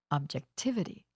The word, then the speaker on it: objectivity: The stress for these suffixes happens on the syllable just before this two-syllable suffix. Listen. Moral, morality. Objective, objectivity.